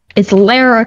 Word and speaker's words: Lara: It's not Laura. It's Lara. And I get to decide because that's my middle name. But it's got to have a U in it to be pronounced Laura. Otherwise, it's Lara.